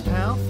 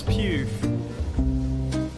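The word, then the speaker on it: Pugh: it to my mouth is it pronounced florence pal no it's pew how's it done put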